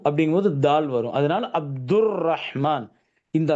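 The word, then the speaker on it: رحمن: 2வது இந்த ரஹ் அப்படிங்கிற இந்த ஹ. ரஹ்மான் தான் வரணும். ரகுமான், ரகுமான் வரக்கூடாது.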